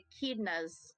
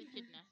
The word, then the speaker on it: echidna: Yes, I love my echidnas. My keys. My I echidnas. said echidnas. I said No, you said echidnas. I said echidna.